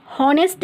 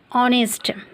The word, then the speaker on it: honest: Okay friends, इसी तरह से एक नेक्स्ट वर्ड है ऑनेस्ट, जिसमें सिस्टमेटिक वर्ड है HONEST, इसमें H साइलेंट है। ओके, इसलिए हॉनेस्ट नहीं, इसे प्रोनाउंस करेंगे ऑनेस्ट।